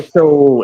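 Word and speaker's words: Shough: Tyler Show in New Orleans, all right? Ain't that ironic? It rhymes with shit, Tyler shit.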